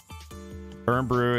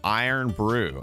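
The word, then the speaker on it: Irn-Bru: Earn Brew is pronounced Iron Brew.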